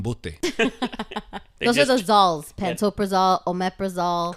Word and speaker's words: omeprazole: so much something booty resolved at Oprah's all omeprazole correct panto pretzel is I guess the highest